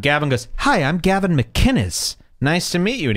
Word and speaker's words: McInnes: a rag gavin mcginnis the man goes out of his way to pronounce it how it's written mckinnis mick kinnis and all of these losers keep saying mcginnis mcginnis it's a totally different name gavin hates that by